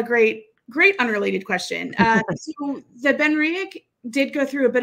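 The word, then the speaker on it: BenRiach: He says, how do you pronounce it? Ben Riek.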